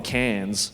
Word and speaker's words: Cairns: I remember when I was up in Cairns one time, which is Wait, where? Cairns? Like in France? No. That's C-A-N-N-E-S. Cairns is spelled C-A-I-R-N-S. IRNS.